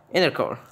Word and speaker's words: Innercore: Alright, that's how it's pronounced. Innercore.